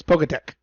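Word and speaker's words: Poketch: okay c h can just make the k sound it's poketech i i will fight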